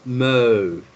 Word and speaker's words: mauve: So instead of saying mauve, we say mauve.